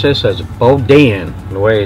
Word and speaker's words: boudin: So they pronounce this as boudin.